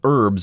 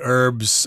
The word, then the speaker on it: herbs: so forth that's what herbs are all about I think Americans don't pronounce the H we say herbs I think people in